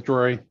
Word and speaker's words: Drory: Hi, my name is Drury. It's spelled D-R-O-R-Y.